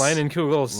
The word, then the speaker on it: Leinenkugel's: I don't week's even actually know how to pronounce this brand. I Ling- just always think Lingelas? it's Leinenkugel's Leinenkugel's?